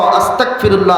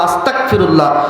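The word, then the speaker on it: أستغفر الله: শব্দটা হবে আস্তাগফিরুল্লাহ, গাইন দিয়ে উচ্চারণ হবে। আরবি শব্দ গাইন, বাংলা শব্দ দিলে গ, সেখানে যে আপনি ক দিয়ে উচ্চারণ করলেন ক, আস্তাগফিরুল্লাহ আস্তাগফিরুল্লাহ।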